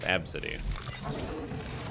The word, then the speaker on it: Abcde: The name ABCDE is pronounced Absidy.